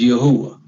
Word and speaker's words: Yahuwah: is our vindicator, but he pronounces the YHWH as Yahuwah.